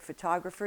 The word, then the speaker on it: photographer: Now in English it can be anywhere as you know it can be absolutely anywhere you take the word photographer you have pho to